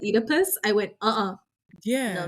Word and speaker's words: Oedipus: Like, I'm curious about the Oedipus one.